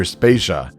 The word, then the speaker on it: Spaca: critical tracks behind them my name is spaca and we're brought to you by Anonymous dinosaur and rhymes with Asia it's time to appreciate